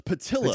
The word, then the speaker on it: Patillo: It's Patillo.